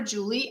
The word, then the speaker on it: Juli: Now, another reason why I love what Julie, I think she pronounces her name Julie. She spells it Juli.